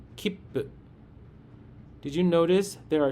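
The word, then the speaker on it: きっぷ: The sound of the chisai tsu is silent, but it takes one beat, just like long vowels. To pronounce it correctly, try clapping your hands to count the beats. Say it slowly and with rhythm. Kippu. While pausing, your mouth gets ready for the second sound.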